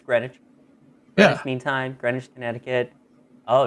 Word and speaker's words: Greenwich: pronounce these words but I believe you just leave syllables out so grenwich wow appar it's 100% correct